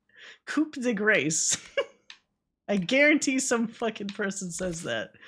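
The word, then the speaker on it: coup de grâce: like it says cigra it's it's coupe the gra why did they just spell it like that you know what I mean like you imagine somebody that doesn't know how the you say it I'm saying it right right Cuda gr like coup the grace I guarantee some [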